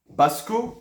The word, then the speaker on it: Vasco: Donc, ce sont les Basco ou Basca. C'est tout simple. Mais ça s'écrit Vasco ou Vasca.